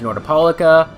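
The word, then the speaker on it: Nordopolica: as you can see there's northapolica or I still believe it should be pronounced nor the polica but whatever they said north polica so that's what I'm gonna say I've said that before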